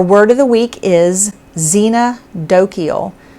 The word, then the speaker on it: xenodochial: pronounce word our word of the week is xena dokiel it's spelled and you'll see it on the screen but i'm going to go ahead and tell you x-e-n-o-d-o-c-h-i-a-l xena dokiel and what it means is friendly to strangers